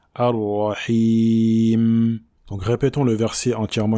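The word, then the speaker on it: الرحيم: Il ne faut pas exagérer dans sa prononciation, et également il ne faut pas l'effacer. Donc on ne dit pas Ar-Rahim, Ar-Rahim, mais le juste milieu. Ar-Rahim.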